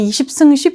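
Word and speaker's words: 20×10: 어 김정은식이 작년부터 굉장히 전략적으로 북한에서 추진하고 있는 것이이 지방 발전 20 * 10 정책입니다. 북한에서는 20승 10 정책이라고 읽는데요.이 이 지방 발전 20승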